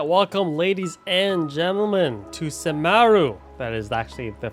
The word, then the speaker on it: Sumeru: All right, welcome, ladies and gentlemen, to Sumeru. That is actually the phonetically correct way to pronounce it.